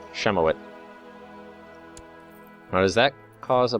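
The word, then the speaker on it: Ziemowit: So, my son, Semowit, is going to name his son. I actually think it's pronounced Shemowit.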